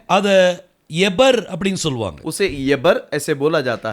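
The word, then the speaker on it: עבר: இத தனியா நீங்க உச்சரிக்கும் போது इसको अलग से जब हम बोलते हैं அத எபர் அப்படின்னு சொல்லுவாங்க. उसे यबर ऐसे बोला जाता है।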